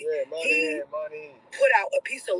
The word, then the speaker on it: Moynihan: Moynihan, right? Yeah, Moynihan.